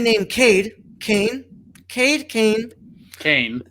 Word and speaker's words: Caine: kade kane kate kane kane as in code yeah like cane like cocaine or cane as like cain and abel uh lawson and his